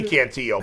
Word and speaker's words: Cantillo: It's Cantillo. Who says Cantillo? I've been calling him Cantillo because it should be Cantillo, but he actually pronounces it Cantillo.